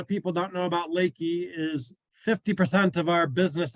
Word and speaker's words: LEKI: It can be Leki, Leki, Leki, or Leki. So it's Leki. And we even have sales reps that are out there around the country that don't pronounce it the same way. So we answer to all names, but Leki, just like a body of water, is kind of what we go with.